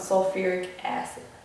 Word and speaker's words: sulfuric acid: is called sulic acid but that's actually not how we pronounce it. We actually the root name for this is sulfur. So we call it sulfuric acid. So it becomes sulfuric acid, not hydrospheric acid, but sulfuric acid because it it is an oxy acid.